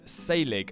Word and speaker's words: Saelig: have found recently called salig and I think that's how you pronounce it the A and the E are connected together I'm not really sure